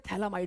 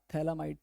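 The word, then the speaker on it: phthalimide: थैला माइड है भैया पीएच पीएच साइलेंट है क्या नहीं भैया ये पीएच साइलेंट नहीं है पीएच का मतलब होता है फिनाइल की रिंग ठीक है हां ये साइलेंट पायलेट मत कहना इसको फिर इसको फर्द हम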